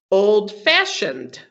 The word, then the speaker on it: old-fashioned: So for compound adjectives, the stress is on the second part. Okay, bad-tempered, like a person who gets angry quickly. Old-fashioned.